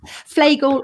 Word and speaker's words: Fleagle: two gorgeous kids flagel well even though it's spelt like beagle it's felt pronounced flagel like a bagel that's exactly right yeah